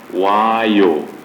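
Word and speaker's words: vāyu: And Vayu. Vayu. Because you see the V, in Indian languages, the V is pronounced as W. They don't pronounce V, they pronounce W.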